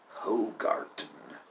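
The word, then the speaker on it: Hoegaarden: Hogarten. I'm sure that that D is pronounced as a T.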